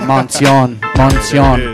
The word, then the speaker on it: Moncion: My name is Moncion, man. We out here right now. Let's do it. Hey, see, I told you, I think I said it right in the intro. I said Moncion, there it is.